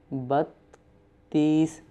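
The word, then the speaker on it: بتیس: Don't make a long sound but with soft T and short sound Battees. 33 Tantees.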